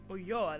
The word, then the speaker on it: Ulloa: Ulloa, that's how you say it.